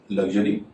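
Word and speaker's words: luxury: श हो रहा है, और लग्जरी, जिसमें एस का उच्चारण ज हो रहा है। ज।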